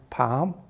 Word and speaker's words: palm: used that day now our next letter is actually a silent letter you don't hear it in the word palm it's the letter l but i'll tell you